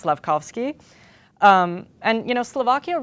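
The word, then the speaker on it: Slafkovský: Forgive me if I mispronounced the name, but it's Slevski.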